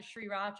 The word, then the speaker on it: sriracha: my mom calls it sriracha i'm like mom that r is silent like you just don't pronounce the r between the s and